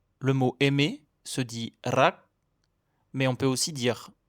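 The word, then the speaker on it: รัก: c'est un Roulé avec la pointe de la langue comme en espagnol ou en italien. Si vous avez du mal, bonne nouvelle, c'est complètement optionnel. Vous pouvez aussi le prononcer comme un L.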